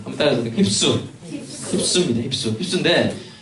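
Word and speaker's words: ὑψόω: 이 단어의 원어 번역의 발음은요 헬라어입니다. 힙스입니다. 힙수. 한번 따라서 힙수.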